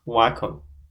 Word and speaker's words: Wycombe: And he played in the Carabao Cup, where we won 6-1 against Wycombe. That's how you pronounce their name.